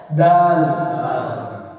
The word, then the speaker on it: د: دال پھر ہے دال. زبان کو دانت جو سامنے والے دو دانت ہیں اس سے ملا کے آپ کہیں گے دال.